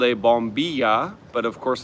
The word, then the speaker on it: bombilla: And the straw is called a bombilla, but of course a lot of them would pronounce it bombisha with the double L.